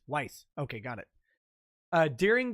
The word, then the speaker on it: Weis: on the subsequent novels whis is pronounced like ice weiss okay got it uh